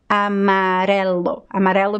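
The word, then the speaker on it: amarelo: letter r and also when you find the letter r between two vowels it has to be pronounced as the fricative odd it has to be like amarelu means yellow you have a marello so the letter r is between the letter a and e it has to have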